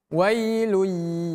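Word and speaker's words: ويل: Wai cara baca dari bacaan wai wai. Jangan sampai kita baca wai tapi wai wai. Seperti kita baca ay bukan ai tapi a. Jadi bukan wai w wa tapi wailun. Wailun.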